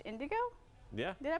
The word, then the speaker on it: Indoggo: He's calling it Indigo Gin, pronounced Indigo?